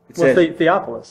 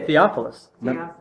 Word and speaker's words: Theophilus: twice in the bible how do you say his next i say theophilus okay he's only mentioned